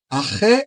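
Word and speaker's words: ἀρχῇ: O termo Arre, aí que significa, que se escreve dessa maneira, mas se pronuncia arre, significa no princípio.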